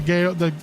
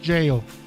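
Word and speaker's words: gaol: I always forget the gale. It's written Gale, or it's pronounced jail.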